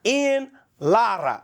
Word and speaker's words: Ian Lara: of your name so tell me what the correct pronunciation of your name is in Spanish I'm Dominican so Spanish islada Lara yeah in Lara yeah but but when